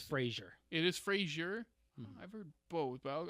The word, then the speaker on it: Fraser: How do you pronounce Brendan? I think it's West? Fraser. It is Frasier.